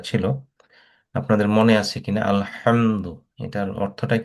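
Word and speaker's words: الحمد: যেহেতু এটা উচ্চারণটা হবে আলহামদু। অনেকে আলহামদু বলে, যদি মাখারিজটা ঠিক মতো ক্লিয়ার না হয় তাহলে অনেক সময় অর্থ চেঞ্জ হয়ে যায়। বলতে হবে আলহামদু।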